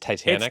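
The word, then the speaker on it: Titanique: It's pronounced Titanic. It's Titanic.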